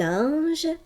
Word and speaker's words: ange: Syllabe avec moi ce mot en exagérant la prononciation. Ange.